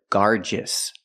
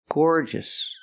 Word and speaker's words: gorgeous: and are also garous I cannot pronounce the word garous it's not gorgeous it's Gore gorgeous gorgeous as a matter of